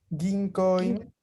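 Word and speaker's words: 銀行員: Ginkoin. ¿Sí termina la N? Ginkoin. ¿Sí se escucha? Ajá, la N al final sí.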